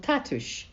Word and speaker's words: Tatuś: father, whom we called Tatuś, the Polish word for daddy. The second syllable is pronounced ush, as in the English word push.